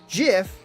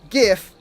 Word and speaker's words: GIF: pron and it was like, oh yeah, it's pronounced GIF with a J on the shirt, not GIF, spelled the way you actually spell GIF.